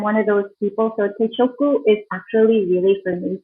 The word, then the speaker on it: teishoku: So guys, it's so easy to set your teishoku.